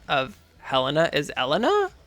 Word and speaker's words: Helena: But I'm pretty sure the proper pronunciation of Helena is Elena. Like that's like the proper French pronunciation.